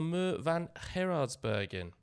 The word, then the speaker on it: Muur van Gerardsbergen: And we'll discuss breaking bread on the Muur van Gerardsbergen. Good pronunciation there, well done, yeah.